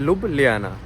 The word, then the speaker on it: Ljubljana: पूछ भी रहा यार इसको प्रोनाउंस कैसे करते हैं क्योंकि लिखने में तो लोग लज्जू ले जाना कुछ ऐसे आता है तो इसको के को ना ये ए कोई देश भाई बोल देता है कोई देश हा बोल देता है तो वैसे प्रोनाउंस ये लोग कहते हैं लब ले आना ठीक है तो यहां